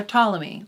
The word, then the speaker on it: Ptolemy: it's spent ammonia but just like my name the p is silent yeah finally we're talking